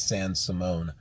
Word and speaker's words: San Simon: there welcome to arizona san simone it's not san simon it's even though it's spelled like simon it's sans simone arizona just like tucson is